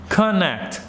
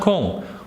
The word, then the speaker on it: connect: So when you pronounce, for example, connect, make sure you make it like an, connect, not con, connect, connect.